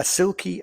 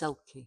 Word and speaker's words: selkie: So it says, a silkie and a stranger. It's selkie.